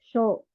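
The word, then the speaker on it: 少: Untuk cara bacanya ada 3. Sukunai, sukoshi, sama sho. Sho, gitu.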